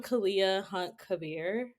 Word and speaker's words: Kahlea Hunt-Khabir: it from you yes thank you um I'm Kalia hunt Kabir so wonderful and um so I I would